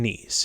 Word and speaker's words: Kneese: am your host nice and the k is silent and on this show